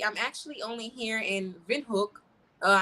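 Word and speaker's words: Windhoek: actually only here in Vin hook uh I know we say win hook but I'm trying to try to pronounce it I guess the way they would you know in German but in windhook I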